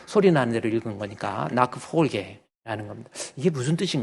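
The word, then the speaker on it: Nachfolge: 이 나크폴게, 한번 따라할까요? 나크폴게. 이 이 CH, 영어로 독일말로 체하예요. 체하가 앞에가 A가 있으면 흐 발음으로 해야 돼.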